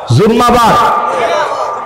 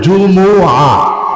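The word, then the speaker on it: جمعة: জুমাটা 2 ভাবে উচ্চারণ করা যায়, একটা হচ্ছে জুমুআ, মিমের মধ্যে পেশ দিয়ে জুমুআ, আর একটা হচ্ছে জুমআ, মিমের মধ্যে সাকিন দিয়ে, কিন্তু আমরা বলি জুম্মা, কেউ কেউ জুমআ। একটাও সঠিক না, সঠিক হচ্ছে 2টা, একটা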